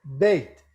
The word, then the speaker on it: בית: Except it's not "daughter", "bat", it should be pronounced "beit". That diphthong of "bait" isn't